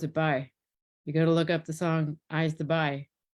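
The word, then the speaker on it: b'y: You pronounce it "bye." You got to look up the song "I's the Bye," and then you'll hear it. "I's the bye who builds the boat." It's like a short form of boy.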